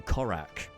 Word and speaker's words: Corrak: "Have heart, friend, for you have arrived in Corrak." Corrak. Spelled How are we spelling Corrak? You spell that C-O-R-R-A-K.